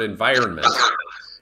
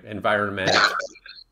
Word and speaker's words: environment: the final stressed syllable and the final stressed syllable in environment is that vi syllable so there aren't as